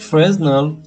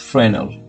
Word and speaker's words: Fresnel: and search for frel some call it fresnel but it's pronounced frenal there's a frenal material expression under utility